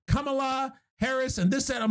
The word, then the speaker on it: Kamala: Kamala Harris, which is weird that, not shitting on her name, it's a cool name, but I guess the pronunciation is Kamala Harris. Yeah, not Kamala. I'm used to Kamala.